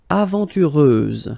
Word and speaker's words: aventureuse: Aventureuse, final S, not pronounced.